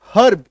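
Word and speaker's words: herb: एच ई आर बी हर्ब वो लिखते तो ऐसे हैं लेकिन जब आप बोलेंगे तो र साइलेंट होगा हर्ब क्यों क्योंकि आर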